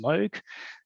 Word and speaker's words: Moog: out that in English the company name is pronounced MOG in Japan um it's M um we employ